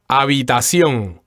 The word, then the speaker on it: habitación: mind here is that the H is silent here in, why don't you say it again for us? Habitación. And the accent sounds like the accent is on the last syllable.